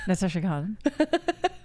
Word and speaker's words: Natasha Khan: Natasha Khan.